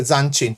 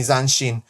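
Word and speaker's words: zanshin: white player with proper zanin you mean zanin there's no hard I'm doing my I'm doing my spelling Corrections there's no hard C in Japanese just so you know I've spotted another one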